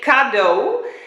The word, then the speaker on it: cadeau: says present this is Godot that's how you pronounce it inductor so we all learned a little bit Dutch but you say cadeau and that basically means present cadeau um but